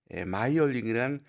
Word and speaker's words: 마이얼링: 우리나라에선 영어식으로 메이얼링이라고 하는 사람도 있는데 뭐 지명이니까 원래 발음대로 해 줘야겠죠. 오스트리아의 지명 마이얼링입니다. 네. 1889년 1월 30일 빈남부의 마이얼링이란 어 합스부르크 왕가의 궁정